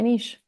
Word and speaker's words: niche: I'd lean into it and make it my niche. Yeah. So, that's how we say it. Niche. Was I saying it wrong? Both No, both ways are correct.